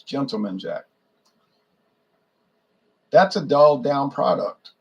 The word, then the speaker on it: Gentleman Jack: I hear some people pronouncing Gentleman's Jack. It's not Gentleman's Jack. It's Gentleman Jack.